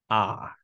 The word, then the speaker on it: our: However, in spoken language, this word is pronounced R. Okay, that is the reduction.